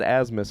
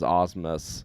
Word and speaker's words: Osmus: picture with Jeffrey Osmus, I said Asmus forever, and then the host brought him up as Osmus, and I'm like, oh, have I been saying his name wrong this whole time?